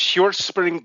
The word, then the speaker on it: Hjortspring: It's Hjortspring Golf Club. Yeah, because the H is silent. Hjortspring. Hjortspring. It's in Denmark, so it's probably it's probably silent H.